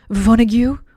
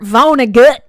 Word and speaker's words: Vonnegut: guys are talking about about vona vonnegu or should i say kurt vonnegut because i know how